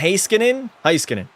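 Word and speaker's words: Heiskanen: It's pronounced heskin. That's how Rick pronounces it.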